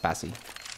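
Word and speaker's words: Spazie: And that's pronounced Spazzy.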